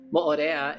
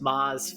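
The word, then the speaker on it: Moʻorea: And even Mo'orea is pronounced Maz from some like locals where they just shorten things. And he likes to say it the full way.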